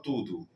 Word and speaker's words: tudo: Eu, agradezu aus por tudo. Por tudo. Es una palabra muy utilizada. Todo en portugués tud. Se escribe tudo y se pronuncia tudo acento en la en la primera u.